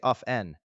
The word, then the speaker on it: often: However, pronouncing the t is not wrong, just a bit more traditional or formal, so you can choose whichever you prefer.